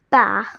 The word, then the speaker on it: par: Now about producing the French R. Okay, so there's this step you need to follow. You have to avoid or not touch your tongue to your teeth or the roof of your mouth.